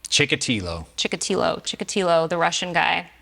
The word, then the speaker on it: Chikatilo: getting drawn how do we say his name chikatilo chikatilo chikatilo the Russian guy yeah oh you